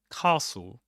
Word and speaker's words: castle: So, castle. Castle. You don't pronounce the t, right? You don't pronounce the the e at the end. You just say castle.